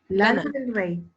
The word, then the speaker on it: Lana del Rey: Como la lana. Como la lana. No te creo. Es lana. Sí. Lana. Lana del Rey.